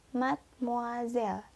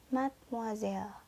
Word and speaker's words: mademoiselle: Ya, kita ulang lagi pengucapannya ya. Yang pertama, monsieur. Yang kedua, madame. Dan yang terakhir, mademoiselle. Monsieur, madame, mademoiselle.